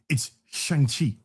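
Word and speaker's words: Shang-Chi: Remember how they remember how they educated you in the film about how to pronounce the name? Remember that? I I I do. It's Shangi. It's Shangi.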